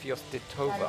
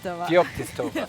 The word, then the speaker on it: Feoktistova: 2015 world champion, Ekaterina Fyostitova. Вот сейчас Did I say it right? Feoktistova. Fyostitova. Almost Ребята, right.